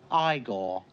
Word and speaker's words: Igor: hot eigor you know you must be eigor now it's pronounced igore you should have included